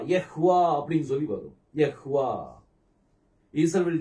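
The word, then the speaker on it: יהוה: அந்த ஹேவ் கூட நம்ம உச்சரிக்கணும். ய. அடுத்தது வா. யஹ்வா அப்படின்னு சொல்லி வரும்.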